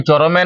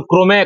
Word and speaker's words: Chrome: ওটা গুগল চরমে নয়, ওটা গুগল ক্রোমে ক্রোমে।